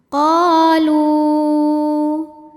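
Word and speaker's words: قالوا: Sebab ada alif yang sebelumnya berbaris fathah, maka cara bacanya huruf qaf ini kita panjangkan dua harokat. Qalu.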